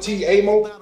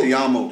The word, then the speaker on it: Te amo: This record, how you pronounce it? T-Amo? What is it? Te amo.